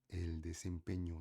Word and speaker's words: desempeño: Você tem que lembrar que n é um n com ti, tá? E o som é um pouco mais fechado.